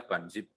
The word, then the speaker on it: bunzip: Istilahnya bunzip, ya. Bacanya banzip.